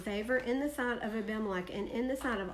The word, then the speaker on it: Abimelech: And Abimelech is really how it should be pronounced, because Melech is what? King, or Melchizedek. right? Yeah. So it's Abimelech.